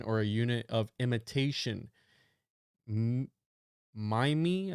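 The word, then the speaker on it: mimeme: Mime, I think is how you say it, M-I-M-E-M-E, comes from the suitable Greek root, but I want a monosyllable that sounds a bit like gene. I hope my classicist friends will forgive me. So he literally came up with it, and he said it needs to rhyme with cream.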